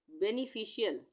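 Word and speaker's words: beneficial: बेनिफिशियल, बेनिफिशियल, BE, बे, NE, ने, FI, फी, CIAL, मैंने पीछे बताया ना CIAL, यहाँ पे शियल, इसका उच्चारण हो रहा है शियल।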